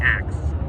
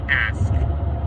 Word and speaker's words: ask: lot of people say axe um they'll put like a x sound in it when it's ask uh I I'm from